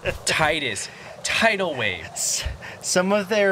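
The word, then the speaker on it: Tidus: I don't care what Square Enix says, it's not Titus, it's Titus.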